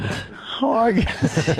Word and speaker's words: Hargius: Yeah, my last name is Hargis. Paul Hargis. Hargius. The U is silent. Hargis.